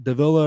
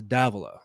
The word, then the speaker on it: Dava: te Texas um it's his name is Marcos Dava not not Dilla or Deva it's Dava like I got straight from the coach's show straight from coach Walters himself that's how it's pronounced so but what if